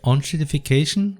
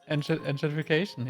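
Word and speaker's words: enshittification: People call it the onshitification. How's it said? How's it pronounced? Enshitification, Enshitification, it's like, it's really true.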